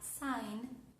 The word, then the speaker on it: sign: Otro ejemplo, la palabra nostal position, tenemos la palabra sign.